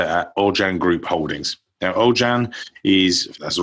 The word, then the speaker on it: Aujan: group treasury director at ojan group Holdings now ojan is that's the right way to say it